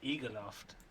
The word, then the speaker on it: Egerloft: you do you this this would be eager loft and how i would think about it yeah it's like a loft it would be the